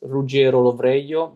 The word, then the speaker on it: Ruggiero: If you're wondering how to pronounce my full name, it's Rugger Roio, but no one use it since I left uh Italy because he's way too complicated.